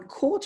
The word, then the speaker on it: caught: pronounce it correctly um caught and bought one way to to really emphasize that g h sound is to pronounce it the way it used to be pronounced which was with the h sound so it used to